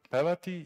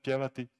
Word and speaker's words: pjevati: So basically, if you take the verb pevati, it can have so these orthographic and pronouncing variants: pevati, pevati, Cyrillic Latin, and then pjevati, pjevati. So four variants.